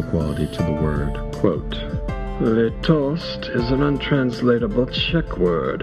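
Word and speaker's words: lítost: to the word quote their toast is an untranslatable Czech word its first syllable which is long and stressed sounds like the wail of an abandoned dog as for the meaning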